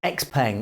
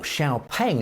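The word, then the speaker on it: XPeng: stance Chinese EV manufacturer x-pang or xiaopeng as the Chinese pronounce it report Q3 earnings on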